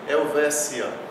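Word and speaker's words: Helvetia: O TI, quando é átono e não está precedido de S, a gente pronuncia como C. Então aqui lê-se Helvécia, que é o nome latino da Suíça.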